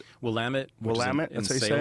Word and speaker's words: Willamette: And you say it's Willamette? Willamette.